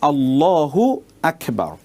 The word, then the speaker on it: আল্লাহু আকবার: যেমন ধরুন আল্লাহু আকবার। ঠিক আছে? এই যে এখানে দেখুন মূল উচ্চারণটা হবে আল্লাহু আকবার। আল্লাহু একটি শব্দ। আকবার একটি শব্দ। এখন আপনি আল্লাহু আকবার না বলে যদি আপনি বলেন আল্লাহু আকবার।